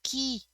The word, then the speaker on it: qui: to remember that you're going to use key in front of a verb and q in front